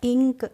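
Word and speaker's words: ink: ए से ही पढ़ेंगे तो सबसे पहले अगर आई आ गया तो हमने पढ़ दिया और एन से बन गई अंकी बिंदी और के से बन गया क तो क्या हो गया इंक आई एन के पढ़ेंगे हम इंक पढ़ेंगे इसी तरीके से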